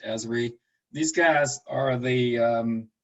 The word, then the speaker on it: Esri: would be environmental systems research institute uh usually pronounced esri these guys are the um the kind of